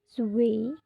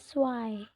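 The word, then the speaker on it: zwei: Dua s bukan zu tapi swy.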